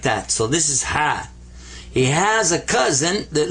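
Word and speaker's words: حاء: And the letter ha has a special kind of a sound with it that you don't notice right away, but whenever you're wearing glasses and you need to clean them, you get that sound when you go ha, ha.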